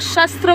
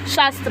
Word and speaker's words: शास्त्र: तो यहाँ पे बोला है अर्थ क्या होता है, मीन्स वेल्थ, और शस्त्र मीन्स साइंस, ठीक है, शास्त्र, एक्चुअली शस्त्र नहीं शास्त्र।